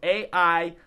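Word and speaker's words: Aire: as air Webster spelled a-i-r-e yeah but pronounced air like the air we breathe you know well some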